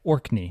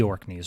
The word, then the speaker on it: Orkney: from hang on I'm going to say it correctly orkney not the orkneys right it's orkney um there are a few